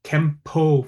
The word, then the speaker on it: Kenpo: So our regular set of forms, they were called Kenpo forms.